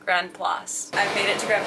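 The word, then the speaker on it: Grand-Place: Sometimes looks like Grand Place. Other times looks like Grand Palace. It's pronounced Grand Place.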